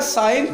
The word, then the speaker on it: sign: जब भी लिखोगे SIGN लिखना पड़ेगा, लेकिन पढ़ा ये लिखना पड़ेगा और पढ़ा जाएगा, साइन जी पढ़ा नहीं जाएगा।